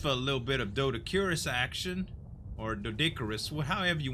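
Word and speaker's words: Doedicurus: Now, just for a little bit of Dodicurus action, or Dodicarus, however you want to say it. Listen, I know I get corrected all the time in the comments. Z, it's pronounced Dodicarus, and I heard HLNA say it too.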